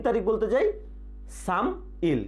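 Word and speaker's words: 삼일: আমরা যদি 3 তারিখ বলতে যাই সাম ইল, কিন্তু উচ্চারণ হবে কি সামিল, সামিল।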